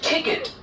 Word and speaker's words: ticket: give examples it is ticket it is ticket this k-e-t yes is not pronounced here as cat it is kit it is get ticket